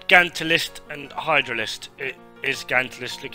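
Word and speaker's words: Gantulyst: It is Gantalist, look how it's spelled, G-A-N-T-U list, Gantalist.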